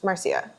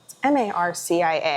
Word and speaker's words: Marcia: Marcia. M-A-R-C-I-A. I always have a hard time with the pronunciation. I've heard it both ways. I've heard it Marcia and I've heard it Marcia.